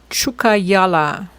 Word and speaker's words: Tjukayirla: Google to the rescue chukala. That's how you pronounce the name of the swouse.